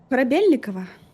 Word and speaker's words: Korabelnikova: Korabelnikova. That's pretty good. Yeah. How do you It's how do you pronounce it? Korabelnikova.